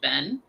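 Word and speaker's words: 弁: This one here by itself is pronounced Ben.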